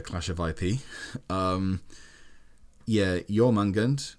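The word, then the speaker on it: Jörmungandr: of ip um yeah your mungund was the i think i pronounced that right maybe not totally right it was the more accurate than me when because i would say jorma gunned or whatever and pronounced the j john mungund is was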